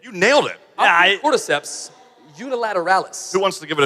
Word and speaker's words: Ophiocordyceps unilateralis: There's a certain kind of ant that when it dies, there's certain fungus known as Ophiocordyceps unilateralis. Oh, that sounded right. You nailed it. Ophiocordyceps unilateralis.